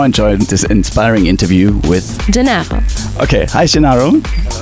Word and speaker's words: Gennaro: It's not a really easy name to pronounce. By the way, my name is Gennaro.